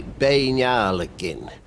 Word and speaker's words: Buachaille: The Gaelic pronunciation would be Buachaille.